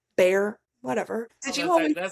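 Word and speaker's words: Bexar: It's the same thing as Bear County, Texas. B E X A R Bear.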